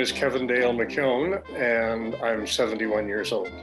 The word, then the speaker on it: McKeown: My name is Kevin Dale McKeown, and I'm 71 years old. To help you pronounce that, as one of my nephews would say, there's a yo in McKeown, dude.